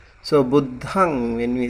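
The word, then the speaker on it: buddhaṃ: uh budang it's uh it's like uh a nasa sound um and you don't really close your lip when you say when you say like Amrut I said I heard him pronouncing like budam uh you don't have to close your lip, you have to open it.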